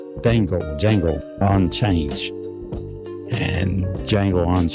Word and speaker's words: Django: So if you haven't seen uh jango sometime I want to pronounce the D but I guess the D is is silent and so instead